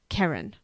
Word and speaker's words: Keren: siobhan yeah okay well i'm not mispronouncing it it is karen just so we get